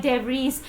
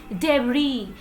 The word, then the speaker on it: debris: no you never have to pronounce it like DeVries the correct pronunciation of this word is debris it is not debris it is debris there